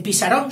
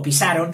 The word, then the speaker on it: Pisarón: En Pisarón sí, porque claro, no es lo mismo pisaron que pisarón.